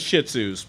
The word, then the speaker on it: Shih Tzu: her way but i'm not a fan of shih tzu's properly pronounced shih tzus i like my dogs